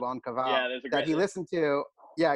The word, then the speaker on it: En Cavale: I think people can say what they want, but it is on Cavale. On Cavale. Yeah. As opposed to, you know, I get in Cavale, I get on Cavale.